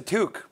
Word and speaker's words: toque: uh what is that that's a toque is it really one syllable toque say it beanie unless